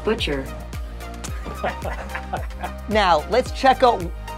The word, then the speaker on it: bocce: pickleball court butcher court it's called butcher everybody says Butchy it's not called Bocce it's Italian thing hey Google how do you say boce that's pronounced butcher now let's check out